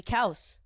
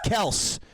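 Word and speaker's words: Kelce: mic what come here same thing as like the Kelsey's the name is actually cows he tries to tell me that the guy's name is Travis Kels I don't care anything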